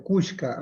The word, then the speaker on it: Cushka: Entonces, acá en el Ecuador pues se pronuncia Cushka.